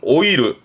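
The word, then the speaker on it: 老いる: 동사로는 오이르, 늙다죠. 노쇠한, 보통 오이르는 노쇠한으로 가고요. 뒤에 게르 보이면 발음은 후게르는 나이 먹다예요.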